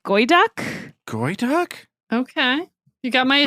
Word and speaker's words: geoduck: Is it gooey duck or geoduck? It's spelled like geoduck, but I feel like that's Geoduck not from how you... Pokemon? You want to eat a Pokemon? It's a giant clam that looks kind of obscene. I think it's pronounced like goyduck.